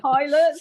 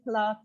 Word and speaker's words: Pilates: Pilots. Steve Wright used to say plates. You can do some plates. Pilots. It's Pilates.